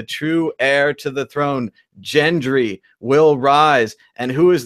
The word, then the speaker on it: Gendry: my $250,000 in Bitcoin please thank you it's pronounced Gendry and Arya so you got both the names